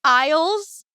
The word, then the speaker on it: Isles: what happened wait but it's Isles like Island s l s I love it Isles